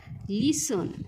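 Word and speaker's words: listen: तो काय आहे बघा लिसन काय आहे बघा लिसन लिसन म्हणजे काय ऐकणे लिसन म्हणजे काय विद्यार्थी मित्रांनो ऐकणे आणि ह्यासाठी जो काही सायलेंट वर्ड आहे तो काय आहे बघा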